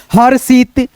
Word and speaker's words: हर्षित: ध्यान रखना रेफ की मात्रा जिस अक्षर पे रहे उस अक्षर से पहले हम र का उच्चारण कर लेंगे आधा र में। जैसे दर्शक, हर्षित, धनुर्धर, धनुर्धर।